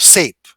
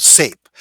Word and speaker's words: Saiph: We'll put a thing right here, and with this one here will be called SAPE. It's spelled SAIPH. Okay, it's called SAPE.